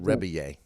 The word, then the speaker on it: Rebillet: reier it looks like it looks like it's spelled rebillet uh but it's yeah rebit you go yeah it's French and you'd say it reier reier okay yeah I I